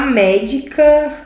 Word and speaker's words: médica: Médica. Eu separo aqui, ó. 1, 2. Última sílaba, penúltima sílaba, antepenúltima sílaba. Se a antepenúltima sílaba é a mais forte, sem medo algum, eu vou acentuá-la.